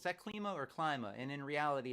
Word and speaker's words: Klyma: clima or Klima and the english pronunciation the Anglo pronunciation of my name is Klima and I went with